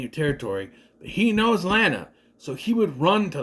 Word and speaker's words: Lana: Yes, I am going to pronounce her name like that. Lana walks in. Rhymes with banana, you know.